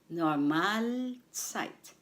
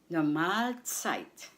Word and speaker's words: Normalzeit: Normalzeit. The stress is on the second syllable. Mal. Normalzeit.